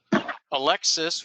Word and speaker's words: ALCTS: include on this list from Alexis, which I learned is now the correct pronunciation of ALCTS.